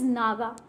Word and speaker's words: Naja: and this is Naga actually it is Naja but the actual pronunciation is Naga so this is the